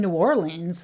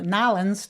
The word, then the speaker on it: New Orleans: It's going to be in New Orleans. That's what I know. Nolans to people who are from there. You said every syllable that time. New Orleans. Down there in New Orleans. Yeah, it'll be in New Orleans.